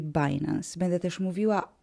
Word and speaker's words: Binance: sprzedawania i handlowania kryptowalutami która po angielsku się nazywa binance po polsku można powiedzieć bilanse ja będę używała angielskiej wymowy czyli binance będę też mówiła O